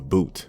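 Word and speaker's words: bhoot: everyone pointing towards something everyone kept saying the boot the boot it's spelled b-h-o-o-t it's some kind of demon that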